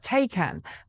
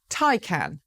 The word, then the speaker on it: Taycan: the industry have been calling it the Porsche Taycan. But apparently, according to Porsche, which released a new video this week teaching everyone how to say the name, it's Taycan.